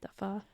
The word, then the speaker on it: pho: It's pronounced pho.